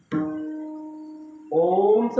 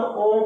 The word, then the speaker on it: ओम: महाराज मात करा ओमचा उच्चारण आपण थोडा असं ओम करतो ना तसा उच्चारच नाही जातो अ आणि उ आणि म असा ओम महात्म्याच्या मुखातून ऐकूया ओम